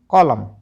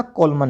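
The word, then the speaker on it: column: डी ए एम एन डम सी ओ एल यू एम एन कॉलम कॉलम एस ओ एल ई एम एन सोलम तो सोलमन नहीं पढ़ना कॉलमन नहीं पढ़ना डेमन नहीं पढ़ना ठीक है क्योंकि एन तो साइलेंट है अब बात कर लेते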